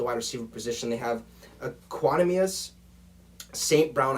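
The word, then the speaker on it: Equanimeous: receiver position they have equanimius saint brown i hope i said that right i looked before the show to make sure i could pronounce it right it was actually him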